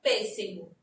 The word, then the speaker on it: pêssego: Aqui na palavrinha pêssego. Será que se eu colocasse o acento agudo, ficaria com a pronúncia correta?